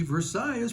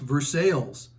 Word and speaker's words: Versailles: Regional pronunciations for example I'm from Georgia where Lafayette is pronounced Lafayette in Kentucky Versailles pronounced Versailles and in the Cibola National Forest the locals pronounce it Cibola help your narrator out